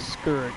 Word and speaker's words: Scourge: I was pronouncing his name wrong for like ever, at least 5 years, dude. His name is Scourge.